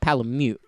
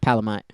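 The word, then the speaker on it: Palamute: some people call them palomute but that's not right it's supposed to be pronounced palamite because it's a dog so it should be a mutt and so we're going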